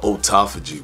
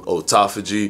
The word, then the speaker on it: autophagy: when it comes to autophagy for example some people pronounce it autophagy other people pronounce it autophagy and understand that the word autophagy is two words put together it's Auto and phagy when separated yes feiji